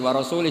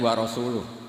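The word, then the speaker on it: وَرَسُولُهُ: Allah itu terbebas, tidak urusan dengan orang musyrik, wa rasulih juga gak ngurus Rasulnya. Kalau sama Rasul saja tidak ngurus, apalagi sama kita. Terus sama Sayyidina Ali dibenarkan, yang benar bacanya itu wa rasuluh.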